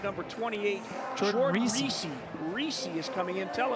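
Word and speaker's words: Risse: reesei it's spelled r i SS e but pronounced reesei and uh our man Gregory is dancing and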